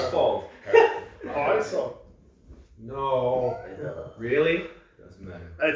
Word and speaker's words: Heisa: You're supposed to pronounce it in a more Icelandic way. Like, yeah, that's true. Where Sigur Rós and Björk is from, they would say, Heisa.